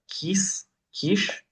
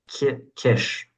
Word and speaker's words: Kiš: For this section, we read a book by Danilo Quiche. No, it's not. I forget. I was saying it wrong last time. I said quiche, and it's like Kish.